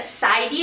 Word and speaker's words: Seidio: So, this video is going to be a review video on the brand Sidio. I believe that's how you pronounce it. It's S E I D I O.